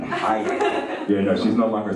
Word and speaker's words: Hayek: It's an animated film, and it stars Salman Hayek, who suddenly now is pronouncing the ha in Hayek.